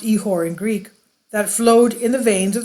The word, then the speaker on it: ichor: ehor i c h o r uh it's pronounced ehore in Greek that flowed in the veins of